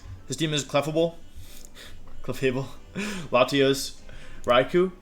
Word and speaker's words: Raikou: His team is Clefable, Latios, Raikou, which I think the official pronunciation is actually Raikou, but I say Raikou because I know how to pronounce Pokemon names correctly.